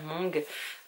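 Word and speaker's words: Hmong: il s'agit de Mong j'avais un doute sur comment ça se prononçait mais ça se prononce bien Mong c'est un peuple que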